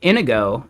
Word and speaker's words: Inigo: Like literally, Inigo, it's spelled the exact same way, right? This first name here, Indigo, that's the same one as Indigo Mononttoya in uh Princess Bride.